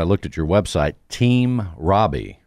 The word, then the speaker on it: Rabih: that if they just look up my name Robbie on YouTube they will find it and would tell them Robbie is spelled r a b i h right correct